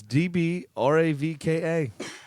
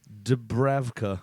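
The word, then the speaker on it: Dúbravka: It's Dbravka. Martin, spelled normal. Dubravka, spelled phonetically.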